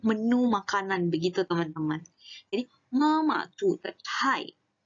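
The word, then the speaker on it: 妈妈: 吃妈妈 Nah, ini cara bacanya ingat ya, di belakangnya itu adalah qingsheng. Jadi kita tidak baca mama, kita bacanya adalah mama. Mama. Mama. Jadi mama. Jadi belakangnya itu lebih seperti ditarik, teman-teman.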